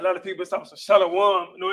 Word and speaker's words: shalom: It's not shalom. Correct? Shalom is incorrect. Yeah, shalom and shalom. Yeah, shalom. Shalom. 2 syllables.